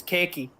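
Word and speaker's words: ケーキ: In Japanese, it's almost similar to English pronunciation. It's keiki.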